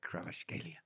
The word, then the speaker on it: Kvaratskhelia: That's it, Kvaratskhelia.